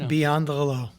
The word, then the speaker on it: Biondolillo: Let Beyond Hello. There you go. Spell that five.